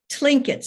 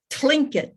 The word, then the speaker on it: Tlingit: And it was the Tlinkets. And my granddaughter said, you have to go Tlingit to get the correct pronunciation.